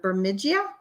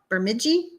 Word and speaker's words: Bemidji: blowing snow up in berm how do you pronounce that word bermidia bemidji minnesota michelle says that looks so cool she